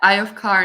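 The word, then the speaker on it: Ioph Carn: the other bands Bandits no you nailed it that's how they say a book what they how you nailed it eye of car that's how they say it oh nice all the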